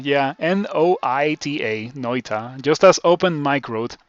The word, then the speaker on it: Noita: thank you thank you for uh for streaming noita on your first playthrough blind it is always